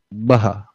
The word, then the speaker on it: Bahar: Baha. Baha. Okay. I got your name wrong.